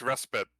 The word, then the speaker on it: respite: No, it's respite, although it looks very similar to the word despite, which is of course pronounced completely differently because English is weird.